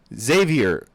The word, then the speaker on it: Xaviar: Xaviar. Xavior. Xavier? He said it's caviar with a X.